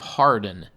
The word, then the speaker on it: Hawarden: Peter lived in the nearby village of Hardin. That's spelled Hawarden. In process, they learned that Lucas was using a pseudonym. His real name wasn't Lucas Wainman, but Thomas Hardin, either spelled Harden or Hawarden. Both words are said and pronounced the same.